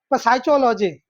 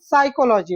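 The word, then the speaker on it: psychology: साइकोलॉजी ठीक है पी एस वाई सी एच ओ एल ओ जी वाई अब इसका हम प्रोनाउंसिएशन क्या करेंगे सही सही ठीक है क्या पकोलॉजी पसाइटोलॉजी मतलब पसाइटोलॉजी ऐसे करेंगे लेकिन उसका प्रोनाउंसिएशन साइकोलॉजी होता है ऐसे बहुत सारे शब्द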